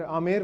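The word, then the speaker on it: Amber: वो साइलेंट आमेर रहेगा।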